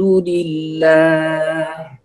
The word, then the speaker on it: لله: وأيضا الحاء فنقول الحمد لله. هذه الملاحظة الأولى في سورة في كلمة الحمد. لله هنا ترقيق لام لفظ الجلالة، فليس الحمد لله، هذا خطأ، فنقول الحمد لله. هنا اللام مرققة في لفظ الجلالة لله.